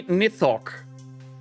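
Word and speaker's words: Nithoch: Okay, that would be Nithok. N I T H O C H. Okay. would be spelled almost like pronounced almost the same but would look very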